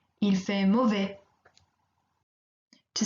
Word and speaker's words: mauvais: Here again, we don't pronounce the final S. Il fait mauvais.